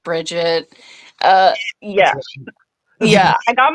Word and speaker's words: Brigitte: brette briet briette yeah it's just Bridget uh yeah yeah I